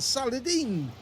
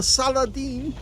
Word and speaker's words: Saladin: the kill on the saladine notice how I'm pronouncing that now that's from uh Kingdom of Heaven actually I seem to record him pronouncing it salahadin um in the film